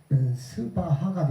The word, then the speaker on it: 스바하: 이제 마지막 사바인데 이제 우리가 이걸 다시 범어로 발음하게 되면 스바하가 되겠죠.